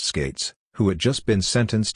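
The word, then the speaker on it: Skatzes: Jackie Bowers sister of George skates pronounced skates who had just been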